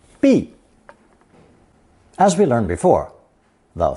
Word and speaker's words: 毕: It's pronounced fourth tone, B, B.